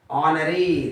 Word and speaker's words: honoree: Honoree.